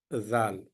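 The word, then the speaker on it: ذال: uh it's uh easy I have the letters in English um that is z a a l zal almost this one gives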